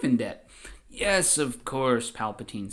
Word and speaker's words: Palpatine: Now you see saving my life, Supreme Chancellor Palpatine. Are you a Jedi?" And Palpatine says, "My name is pronounced Palpatine. Palpatine. Palpatine. Palpalqueen.